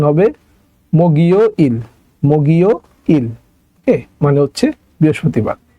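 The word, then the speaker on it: 목요일: এর জায়গায় চলে যাবে ওকে আচ্ছা তাহলে এটা উচ্চারণ হবে মগিও ইল মগিও ইল মানে হচ্ছে বৃহস্পতিবার এই গিয়কটা ইয়ং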